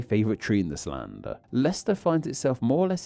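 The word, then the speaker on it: Leicester: That one too, Lester, but it looks like Lister. It's just Lester, like Chester.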